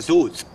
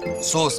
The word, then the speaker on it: صوص: لا ده مش فلفل اسود، ده سوس. ايه سوس؟ ما تتخضيش، هو قصده صوص بس هو مش عارف ينطقها.